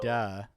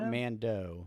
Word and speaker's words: Mandalorian: Manda or Mando? Manda. Not Mando.